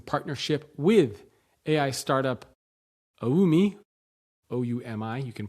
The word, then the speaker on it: Oumi: Okay, so story 3, a new analysis conducted by the New York Times in partnership with AI startup Oumi, O-U-M-I, you can pronounce that how you want, Oumi, finds that